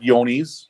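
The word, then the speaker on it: Johne's: So, like I said, Yonis, which actually it's spelled John with an E. It's not with a Y.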